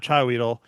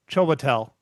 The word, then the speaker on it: Chiwetel: So not Chiweedle, Chiwetel. Ego4. That's how they have it pronounced out in phonetics. Well, let's just say that dude that's been in a lot of movies. Chiwetel Ejiofor.